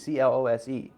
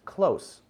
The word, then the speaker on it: close: sound there's no the same spelling CL OSE CL OSE but there's no this is under the s so it's close close we're very close we have a good